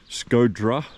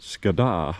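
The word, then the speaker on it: Shkodra: Uh the bus to a place called Scoda. Uh some it's it's spelled different ways. So Scoda Scodra or the Montenegrrons would call it Scadada.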